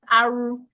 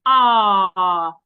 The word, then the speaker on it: R: Please, this letter is not pronounced Aru. A lot of people pronounce this letter as Aru. It is not Aru, it is Ah.